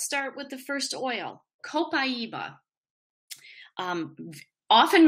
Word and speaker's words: copaiba: starter kit let's start with the first oil copaiba um often mispronounced uh but copaiba is an oil that most people haven't heard